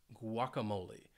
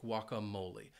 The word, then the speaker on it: guacamole: I love guacamole and it has four syllables and the stress is on that third syllable now I am saying it like many Americans Say guacamole now it is a Spanish word and in Spanish the correct pronunciation would be guacamole guacamole so just just know that the correct pronunciation would be guacamole even though if you if you travel to the US you might hear a lot of English speakers saying guacamole oh guacamole I thought it